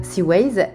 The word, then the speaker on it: C-Ways: Seaways, ça s'écrit C-W-A-Y-S.